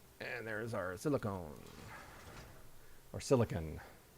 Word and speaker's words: silicon: And there's our silicone or silicon. I've called it silicone since I was a kid. And I I'm pretty sure it's just pronounced silicon.